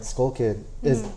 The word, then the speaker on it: TSkullkid: I mean, well, even like the name like Skullkid is the silent T Yes.